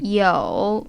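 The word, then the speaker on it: 有: the hansi character with the meaning to have and the pronunciation yo it comprises this kind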